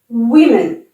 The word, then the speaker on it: women: Faites attention pour la prononciation du pluriel et du singulier. Man. Man. Woman. Women.